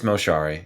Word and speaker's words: Moshari: is your lesson with Shari how do you pronounce it yeah it's moshari yeah moshari um let's just have people call